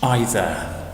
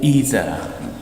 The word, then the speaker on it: either: many instead of much either or either there are two pronunciations there's no cake there